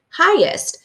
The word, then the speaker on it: highest: So we're specifically going to look for the KN, like in the word knowledge, and GH, like in the word highest, where those are tricky because they're really silent and you can't hear them when you're reading.